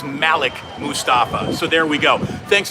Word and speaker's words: Malik Mustafa: early by the way no one needs to say that we're pronouncing that wrong Malik would be the wrong pronunciation it is Malik Mustafa so there we go